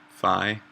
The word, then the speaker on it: phi: substitute for um this when it's phi yeah definitely pronounced fee your phi um so now we